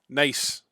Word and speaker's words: neis: Right, you've picked literally the worst word because the Welsh word for nice is nace. Literally, that's the same. It's spelled differently. Spelled like that. But yes, nace.